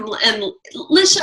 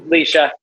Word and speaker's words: Leisha: All right, well, let's move on to another amazing couple, Jeff and Lisha. I always say Lisha. Is it Lisha or Leisha? It's Leisha. It's Leisha. See, I've always said it wrong.